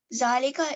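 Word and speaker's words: ذٰلِكَ: Note: Zalika is pronounced Zalika, but is written without alif.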